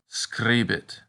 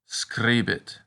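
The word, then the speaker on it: scribit: a little troublesome because the long version is pronounced just like the letter e the short version though rhymes with sit a good practice word is screebit which means he or she writes screebit one note about this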